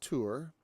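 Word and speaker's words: תור: at tour, which weirdly, and it's pronounced tour, and like our English word tour, it kind of means to explore, to seek out, spy out, explore.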